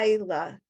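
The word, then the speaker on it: לילה: So But wait, the yud is silent yud. yeah, La Lila.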